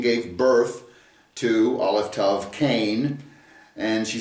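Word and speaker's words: קין: And she conceived and gave birth to Cain, is the way it's pronounced in the Hebrew. It's a kuf, yod, final noon. Cain.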